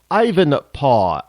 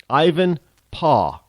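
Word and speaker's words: Ivanpah: p a Ivan paw you know how they used to say Dad back in the in the in the 1800s paw anybody watch Little House in the prairie was Charles Les they Al said paw they didn't call him dad or daddy it was PAW so Ivan paw uh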